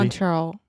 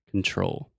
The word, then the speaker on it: control: Control. Better, yeah. Just make sure to articulate that final L. Control.